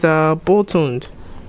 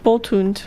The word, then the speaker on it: Boltund: Boltund. Yes. Well, it depends. I don't know the origin of the name. Yes. Bolt. Hound. No, it's like Hound. Dachshund. It's Hound. It's a Hound.